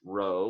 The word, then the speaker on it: rho: the Greek letter Rho Rho spelled Rho pronounced Rho like you row a boat it looks like a